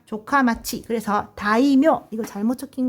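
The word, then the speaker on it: 城下町: 그래서 다이묘성 아래 마을을 이루고 사는 성화정을 발음 어떻게 한다? 조카마치.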